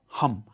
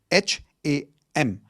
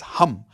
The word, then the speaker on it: Ham: The fifth chakra is your throat chakra which is sound of hum. H a m. It's not ham. Okay. It's hum like how you would say h u m.